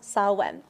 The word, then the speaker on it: Samhain: the celtic tradition saw when it's spelled samhain pronounced salwen in which people would dress up to scare